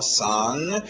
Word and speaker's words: song: Não esquece do nariz. Um som nasal com um Gzinho no final. Song.